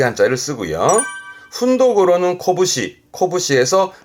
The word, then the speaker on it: 拳: 훈독으로는 코부시, 코부시에서 말 그대로 주먹을 의미합니다만은 이 주먹권자는 요